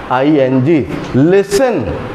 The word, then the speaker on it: listen: जैसे मैंने यहाँ पे लिखा listen, L-I-S-T-E-N-I-N-G, listen, T is silent here, और एक और फैक्टर